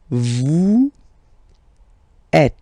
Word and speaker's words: vous êtes: Vous êtes. Same thing here. Notice that final S is not pronounced.